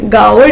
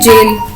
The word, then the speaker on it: gaol: GAOL को how would you pronounce it? गाओल delivery नहीं कहेंगे, इट्स एक्चुअली जेल. यस, जिसको हम JAIL लिखते हैं वही लिखा हुआ है जेल, जेल डिलीवरी, GAOL.